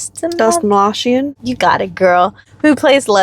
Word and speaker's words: Dastmalchian: David, I can't pronounce his last name. Dastmalchian.